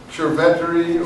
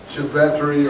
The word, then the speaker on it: Cerveteri: Cerveteri or Cerveteri, however you want to.